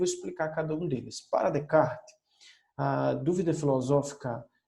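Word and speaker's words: Descartes: Português se chama descascar mas a pronúncia francesa Renê de cá então de kart é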